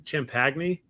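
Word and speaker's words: Champagnie: pronouncing his last name Justin chimpagny oh Penny his last name is spelled champagne so I was at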